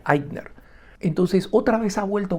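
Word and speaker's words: Ikner: Y el apellido es con I k N E R, ¿no? Y se pronuncia Eidner.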